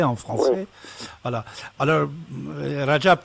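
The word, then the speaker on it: Recep: aussi au départ on disait Rajab mais maintenant on dit rassab rassaban de hordacan luimême une fois j'ai entendu il n'était pas content il disait c'est quoi ces gens-là qui ne savent même pas prononcer mon nom et il me donne des ordres il prononcer mon nom et ils vont me donner des ordres moi je m'appelle Rajab tayb Ardan parce que Rajab c'est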